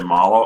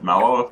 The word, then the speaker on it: Mallow: that utmost defense some i hear too many people say molo i'm pretty sure it's mellow because he looks like a marshmallow and if you actually